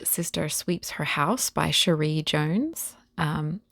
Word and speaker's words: Cherie: sweeps her house by Sheree Jones um I hope it's pronounced Sheree c h e r i e Sheree Jones pretty name